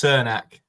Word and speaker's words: Crnac: useful for us certain it's pronounced cernak thank you very much